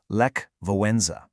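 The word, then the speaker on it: Lech Wałęsa: He was an electrician named Levlesa. And by the way, it's pronounced Le Voenza.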